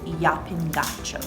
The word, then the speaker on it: Llapin: apparently the correct way to say it is yapping what you got going on now uh just